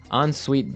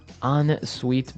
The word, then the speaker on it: ensuite: ensuite bathroom ensuite bathroom on sweet bathroom right another note on the spelling here it's e n right hyphen s-u-i-t-e so even though it's e-n we pronounce it like an o-n yep ensuite so an